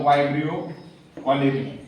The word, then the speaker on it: Vibrio cholerae: जर असं कोणी म्हणत असल तर आपण म्हणायचं व्हायब्रियो कॉलेरी व्हायब्रियो कॉलेरी याच उत्तर हे उच्चारण होते व्यबलरी नावाच्यान कॉलरा नावाचा रोग होतो